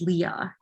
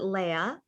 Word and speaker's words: Leia: like how important is leah in this story and kind of mirroring that to your relationship with crystal too well leah i pronounce it leia yeah because actually um